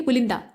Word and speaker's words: पुलिंदा: बोल देते हैं यानी ल पे छोटे उ का उच्चारण होता है तो यहां होना चाहिए पुलिंदा यानी ल पे ऐसे